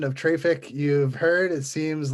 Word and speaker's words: Traefik: I go with Traefik, which is the word traffic with a French accent, because we are, after all, a French company. So Traefik.